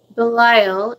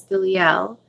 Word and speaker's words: Belial: Belial is the correct way to say his name is Belial.